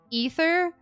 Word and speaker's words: Aether: even though I know his name is supposed to be pronounced ether it reminds me too much of Ethan and that sounds too normal to me and so I say ather instead and I'm like